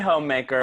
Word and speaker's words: Hommemaker: I just say homemaker, but it's Homemaker, you written did.